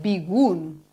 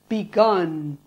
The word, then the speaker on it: begun: The past participle is not begun, it's begun. To get this sound, try to pronounce la del tonto.